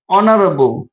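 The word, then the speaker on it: honourable: আবার দেখো আরেকটা যদি উদাহরণ দিই অনারেবল, এইচ ও এন ও ইউ আর এ বি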